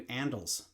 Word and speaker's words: Andels: I'm thinking about calling you Andels. Andel, short for Andelin. I get it. And Andels, it's somewhat endearing. Like, it's kind of It rhymes with sandals.